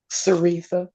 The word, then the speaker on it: Saritha: Saritha. Saritha. And I always want to make it a hard C.